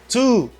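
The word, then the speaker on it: two: Nan sa, W a pas prononcé. Ou pas dit trou, ou dit 2.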